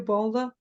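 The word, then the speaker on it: Baldr: yeah yeah for this so we're pronouncing his name a bit differently there are of course different Nordic versions of it you may see it spelled just b a l d r Bal yeah Bal like with a u we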